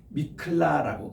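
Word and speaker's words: מקלט: 사람을 보호해주는 도피성이라는게 있습니다 우리 미라클 할 때 보면은 영어로 기적이라는 뜻인데 미클라라고 그래요이 도피성을 그거하고 발음이 비슷합니다 미클라라는 도피성이 있는데 가나안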